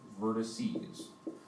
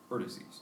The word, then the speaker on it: vertices: we have here three when it's plural you pronounce it vertices vertices it has three vertices